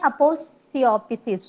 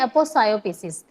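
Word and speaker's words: aposiopesis: Next 4.1 देखते हैं, अपोसियोपिसिस। अपोसियोपिसिस क्या होता है? इसकी मैंने वैसे प्रोनाउंसिएशन देखी थी तो वहां पढ़ते हैं अपोसायोपिसिस, तो लेकिन हम फ्लुएंटली इसको अपोसियोपिसिस भी पढ़ सकते हैं।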